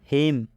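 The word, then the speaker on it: hymn: आ रहा है हिम हिम में एम के बाद एन आया है तो जब भी एम के बाद एन आता है तो एन साइलेंट हो जाता है मतलब इस एन का उच्चारण नहीं करना है यहां पर हिंदी में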